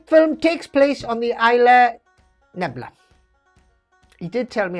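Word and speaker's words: Isla Nublar: Which film takes place on the Isla Nebula? He did tell me how to say it, and I can't... Just read that, right? Okay. Isla Nubla.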